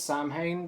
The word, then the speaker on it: Samhain: It says Samhain, but I think it's pronounced Samhain.